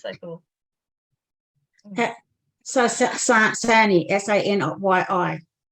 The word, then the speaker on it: Sanyi: So Sani, S-A-N-Y-I. Sany, it's pronounced Shani in Hungarian.